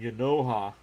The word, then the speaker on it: Genao: And Yanoha. I'm going to have to remember that pronunciation. It's spelled Genao. But it's spelt that way, but that's not how it's pronounced.